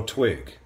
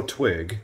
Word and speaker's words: Twig: you know uno twig so his name is uno twig spelled u-n-o t-w-i-g but that is not how you say it so hold on so let me introduce you to you know t wig you have to say